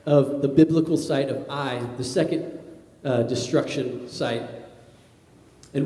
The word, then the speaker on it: Ai: you may read it in your Bible as AI in Hebrew it's actually pronounced AI but this was the second site that was